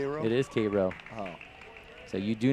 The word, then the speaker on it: Cairo: you can say dula if you can say Cairo you know how else would you pronounce that Koo Koo I guess that makes sense which is actually how you really say it so you were tested and it is kro Georgia and you failed the test